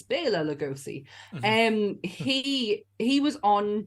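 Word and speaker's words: Bela Lugosi: as well or blf sorry I said I would pronounce his name right it's Bela lagosi um he he was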